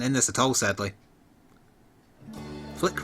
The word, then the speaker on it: Flik: Flik rhymes with dick.